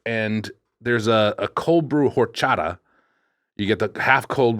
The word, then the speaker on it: horchata: believe it's horchata while we're doing pronunciation. For fuck's I sake. think the H is silent.